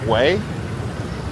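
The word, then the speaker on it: Hue: It's interesting cuz some of the words like way, it's spelled h u e, but it basically means way.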